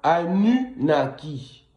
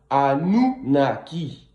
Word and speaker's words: Anunnaki: On ne dit pas Anunnaki, on dit Anunnaki avec un U et non pas un OU.